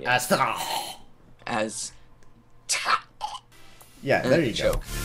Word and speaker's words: Aztec: It's pronounced Aztec. Aztec. The C makes sort of like a ha sound.